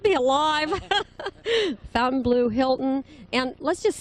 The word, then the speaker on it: Fontainebleau: heard of it you must not be alive fountain blue hilton and let's just say it in the correct way well it's pronounced uh it's pronounced by everyone fountain blue but it is the correct pronunciation is fontainebleau so but uh i think everyone knows whether